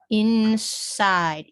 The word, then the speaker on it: inside: this is and then the power given up to the i and this is pronounced i'd inside inside okay all right um